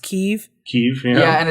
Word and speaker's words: Kyiv: How we're all figuring out that Kiev is not pronounced Kiev, it's pronounced Kyiv.